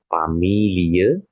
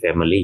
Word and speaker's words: Familie: Ya, familie, ingat ya, familie, jangan jadi family ya.